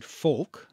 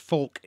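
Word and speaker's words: folc: nation and these include Foulke Foulke you can't say that weird anymore it's probably pronounced folk in Old English right okay fol C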